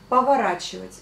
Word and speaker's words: поворачивать: Encore une fois, vous dites le A, mais vous écrivez le O.